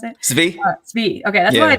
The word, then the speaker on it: Svi: Again, it was mostly Svi or Spy. How do you pronounce it? Svi.